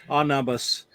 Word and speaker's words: Anubis: Yep, it's Anubis.